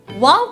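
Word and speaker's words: wau: Wow kite in Malay is a uniquely designed Malaysian kite. Its wings are similar to an Arabic letter pronounced wow.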